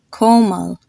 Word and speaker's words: Komal: O is pronounced the exact same way you would say the letter O, like in the word floral or coral. Like you have the name